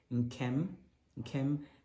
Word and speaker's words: Nkem: The questions asking for pronunciations and meanings of Nkem. Well, here we go. Nkem.